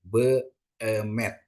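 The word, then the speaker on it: בֶּאֱמֶת: Terus untuk kata beemet ya, be ini kan ada spa, ada segol ya. Jadi dibacanya beemet ya, beemet artinya kesungguhan ya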